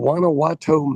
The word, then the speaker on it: Guanajuato: So, I am in Wanowato, Mexico was spelled with a G. So, Guanowato, if you ever watch any social media, they misstate it all the time. Wanowatau.